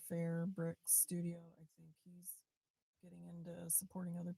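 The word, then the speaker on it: Phair: I think that's called but it's spelled P H A I R fair brick studio and supporting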